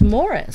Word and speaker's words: Maurice: yes and you play Morris now you know it was funny we were talking about this earlier but his name is actually spelled like Maurice but it's pronounced Morris they were British raised